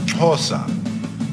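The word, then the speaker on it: Xhosa: tongue of Nelson Mandela is pronounced pasa pasa has 3 main types of clicks the acts were that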